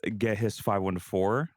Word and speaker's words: Gehis514: My name is Get His 514. Yes, that is how you say my name.